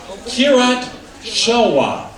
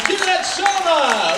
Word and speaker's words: Kirat Sharma: Mr. Kirat Sharma. Got your name wrong before, we got it right this time. Kirat Sharma.